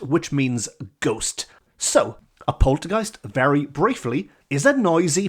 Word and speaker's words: poltergeist: some song lyrics about poltergeists this could come in very handy so here we go the word Poltergeist rhymes with Christ Heist underpriced unsliced or the combination words Zeitgeist and Antichrist and you never know